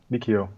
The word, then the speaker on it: Mikio: hello thanks for having me and am i pronouncing your name correctly the first name um yes mikio yeah brilliant so for our podcast listeners